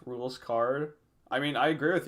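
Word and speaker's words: Rouxls Kaard: pronounce his name uh i think i think his name is pronounced rules card i mean i agree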